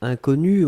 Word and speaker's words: inconnu: Alors, faites attention avec le premier mot, puisqu'effectivement, inconnu, on peut le prononcer de la même façon au masculin et au féminin.